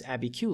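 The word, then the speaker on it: Abiquiu: that a BQ Lake I was recently corrected on my pronunciation on this a BQ Lake he's right down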